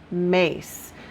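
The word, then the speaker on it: Myss: awakening your divine potential by carolyn mace and it's the last name is spelled m-y-s-s so if you type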